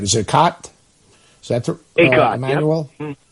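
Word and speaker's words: Akot: from Canada who reclassified, and I want to pronounce it right. Is it Acott? Is that Acott, Emmanuel? Yep. Yeah, Acott.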